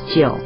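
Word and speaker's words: 九: by the emperor, and 9 in Chinese is jiu, which sounds like the word for longevity.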